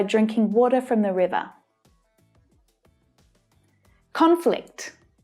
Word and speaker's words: conflict: the virus by drinking water from the river conflict conflict conflict conflict do you have any idea what's